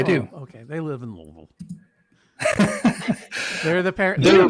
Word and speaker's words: Louisville: How do you say it? Louisville. Louisville. Yeah, exactly. It's all the way in the back. Lovable We can Kentucky. tell out of towners by how they pronounce it.